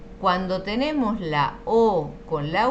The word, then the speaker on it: eau: Fíjate, la EAU es O.